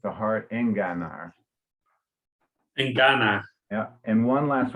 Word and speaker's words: enganar: and just up from that at the beginning of verse 8, you pronounce the G softly, but it's enga. It's a hard enganar.